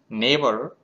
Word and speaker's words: neighbor: So fear, friends, here whenever we are pronouncing neighbor, N-E-I-G-G's sound is G, but we are not pronouncing G.